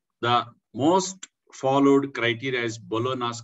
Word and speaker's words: Bologna: The most followed criteria is Bologna's criteria. G is silent there.